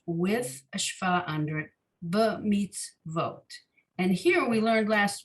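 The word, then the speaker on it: במצוות: Then there's a shva under the tzadi, the last syllable, the last letter of the final syllable.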